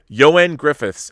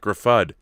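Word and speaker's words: Ioan Gruffudd: sock says yoen griffiths ah joann griffiths is the proper way to say joann griffiths i didn't know that johan griffiths all right not graffad not i own graffit joann griffiths that's good to know johan kind of like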